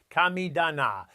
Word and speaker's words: kamidana: Some Japanese gardeners maintain what's called a kamidana, pronounced kamidana, which is a small shelf or altar where they express gratitude to the spirits of nature.